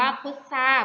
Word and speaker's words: พุทรา: ควบ ไม่ แท้ คะ พุทรา ทร จะ ออก เสียง เป็น เสียง ซอ จะ เป็น คำ ทำ ควบ ไม่ แท้ ค่ะ นัก เรียน ก็ เอา คำ ว่า พุทซา มา เติม ใน ช่อง